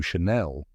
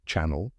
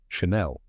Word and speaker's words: Chanel: And the interlocking CC logo, that stands for Coco Chanel. Many people say channel, like a TV channel, but now you know the right way, Chanel.